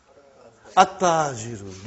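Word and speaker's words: التاجر: At-tajiru. You did not pronounce al. You did not pronounce lam. Okay, you did not pronounce, you skipped it.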